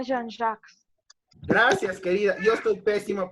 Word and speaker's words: Jean-Jacques: En realidad el nombre de Rousseau se pronuncia Jean-Jacques. Gracias, querida. Yo estoy pésimo para los nombres. Pero gracias. Jean-Jacques Rousseau.